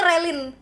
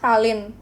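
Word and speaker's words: Ralyne: Aku dulu bilangnya Relin. Relin. Relin. Enggak tahu kenapa aku bilangnya relin. Kayak dia bilang Ralin, tapi aku lihat nama dia tuh R A L Y N E.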